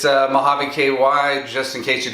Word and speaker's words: Mojave: It's Mojave KY, just in case you don't know how to pronounce it, because I know some of you don't.